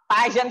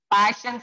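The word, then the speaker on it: Paschen: These are called as Passion series or Passion pronunciation. P-A-S-C-H-E-N. Passion or Passion.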